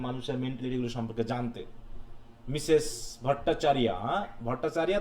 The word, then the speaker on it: ভট্টাচার্য: মিসেস ভট্টাচার্য, ভট্টাচার্য তো নাকি না চার্য বলবো? স্যার ভট্টাচার্য।